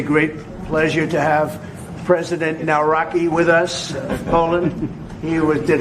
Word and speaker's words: Nawrocki: It's a great pleasure to have President Nawrocki with us.